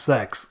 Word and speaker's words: CeX: Do you pronounce that as sex or CEX? Or kex? I need to know once and for all. I need to know if I'm saying it right. Is it spelled like the fuck word? It's pronounced sex.